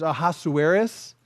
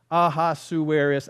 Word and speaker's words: Ahasuerus: in this uh is ahasuerus ahasuerus that was five syllables I can't do that